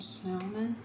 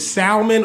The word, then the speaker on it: salmon: Got some salmon. Sa Well, we we debate that. Is it salmon or is it salmon? I don't pronounce the L. Some people do.